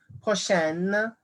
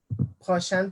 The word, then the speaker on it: prochaine: Notice how I'm pronouncing it differently. Prochaine, prochain, prochaine, prochain. Because this noun right here, le mois, is masculine.